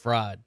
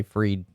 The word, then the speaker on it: Fried: seven might be time why is it pronounced free instead of fried i don't understand that